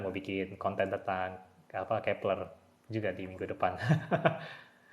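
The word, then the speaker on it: Kep1er: f1r obat Kepler ya Terus setelah Googling Googling bacanya Kepler dan inspirasi juga Memang dari Johannes Kepler Mbah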